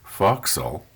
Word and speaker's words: forecastle: the forecastle but i've been corrected it's actually pronounced foxhole okay eventually by the time we get through